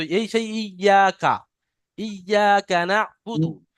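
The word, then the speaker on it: إياك: ইয়াকা, ইয়াটা টান হবে এক আলিফ পরিমাণ, আলিফ মাদ্দা হওয়ার কারণে।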